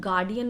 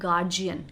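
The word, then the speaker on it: guardian: सुना होगा काफी टाइम हम यू नो गार्डियन नहीं बोलते हम गार्डियन नहीं बोलते ओके वी से गार्जियन गार्जियन जी जी का साउंड हम उसमें देते हैं गार्जियन मेरे गार्जियन है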